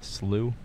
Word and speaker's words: Slough: Canyon Slough, yeah. Yeah, for those... How do you say that word? Slew? Slew. As though you slew a dragon. Okay, or sort of like St. Louis University.